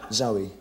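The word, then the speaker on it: Zowie: Zoe.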